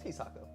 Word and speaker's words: Hisako: this evening for the hisako demo is that how it's pronounced hisako how pronounce it hi Sako Chase it's he Sako you think it's he